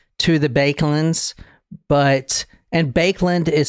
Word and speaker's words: Baekeland: related per se to the bands but and bakeland is spelled b a e k e l a